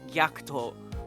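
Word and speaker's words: Gackt: Oh, but he said he thought it was so weird how Americans say his name because in Japan it's Gyakto, but over here obviously it's Gacked.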